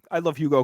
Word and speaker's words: Hugo: I mean, I love Hugo Gonzalez as much as the next guy, and I think he's spectacular. Hugo. Yeah. Hugo. I said Hugo. I have too much. I think the H is silent there.